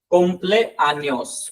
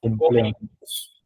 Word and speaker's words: cumpleaños: Felis, Felis means हो गया happy, birthday का होता है कुम्प्लेआनियोस, कुम्प्लेआनियोस, cumpleaños, feliz cumpleaños।